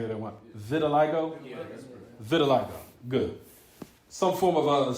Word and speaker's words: vitiligo: you got three people saying that at one Vitiligo Vio good some form of skin disorder was